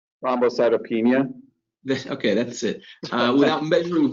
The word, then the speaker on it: thrombocytopenia: Is that pronouncing that correctly? Thrombocytopenia.